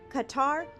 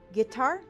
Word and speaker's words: Qatar: Israel killed several of Hamas's most senior leaders in Qatar, or pronounced Qatar.